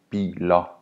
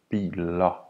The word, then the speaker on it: biler: Therefore, worker would be called arbejder, arbejder. And cars would be biler, biler.